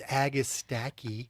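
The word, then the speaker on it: Agastache: It's agistaki because you know what?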